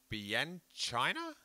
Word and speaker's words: Bianchina: 3 days before his high school graduation, Lucas is in his Fiat Bianchina.